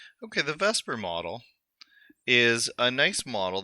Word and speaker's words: VSEPR: will take okay Vesper VSEPR even though it's pronounced Vesper I don't know why